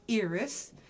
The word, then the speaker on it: Iris: name is iris French it is pronounced eres the soft I I came to I